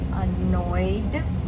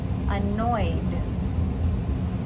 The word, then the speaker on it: annoyed: Annoy. We have 2 syllables, but we don't add any more. Annoyed.